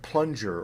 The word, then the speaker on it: plunger: g like finger or a kind of medium g like plunger or danger now when you get